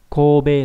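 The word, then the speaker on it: 神戸: Kobe là chữ thần với chữ hộ đọc đặc biệt là đọc là ko có nghĩa là thành phố Kobe.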